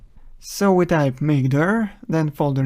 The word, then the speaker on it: mkdir: Linux we use mkdir command which is usually pronounced as mcder so we type maker then folder name enter and here's a new